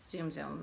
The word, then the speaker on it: Tsum Tsum: I haven't collected any tsum tsum is zoom zoom is where I've always heard of pronounced but when I was